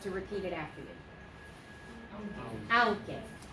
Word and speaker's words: aunque: Okay, so aunque. The QU is a K sound.